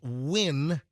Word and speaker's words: Nguyen: Nguyen, pronounced Win.